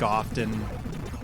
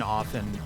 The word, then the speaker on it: often: gank early and gank often wow i never pronounce the tea and often that's weird i just did i mean i i